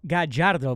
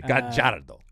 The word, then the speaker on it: Gallardo: Yeah, Marcelo, it's Gallardo, by the way. Oh, sorry. I always forget this, but in Argentina, the 2 L's are pronounced like a J. Sorry, excuse me. Gallardo.